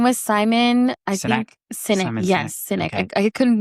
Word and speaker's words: Sinek: Sinek.